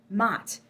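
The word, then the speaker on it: Maat: Mott. That's it, Mott. And it's spelled M-A''A''T.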